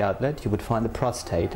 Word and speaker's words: prostate: mistake didn't I cuz I called it prostrate yes uh you were quite well cuz about 80% of my patients pronounce it the wrong way it's prostate and not prostrate like most people say okay so what